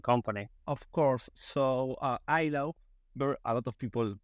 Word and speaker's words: illow: about yourself and Company of course so uh ILO where a lot of people pronounce it ELO because makes more sense when you read ELO